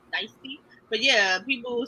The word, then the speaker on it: Nicety: Apparently, I've been calling Nicety the whole time. I was calling her Nicety, but apparently it's Nicety, like iced tea.